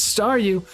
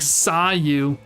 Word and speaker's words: Staryu: was still just as Staryu, I could never pronounce its name right. It always ended up sounding like saw you.